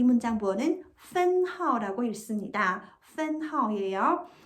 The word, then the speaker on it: 分号: 이 문장 부어는 分号라고 읽습니다.